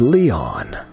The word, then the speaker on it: Lion: "It's written as, but pronounced Leon."